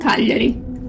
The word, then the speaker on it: Cagliari: The 1668 timeline takes place between Cuglieri and Cagliari, the capital of the kingdom. Both names have the accent on the first vowel.